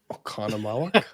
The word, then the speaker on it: Oconomowoc: Pronounce that. Oh, Go. Oconomowoc.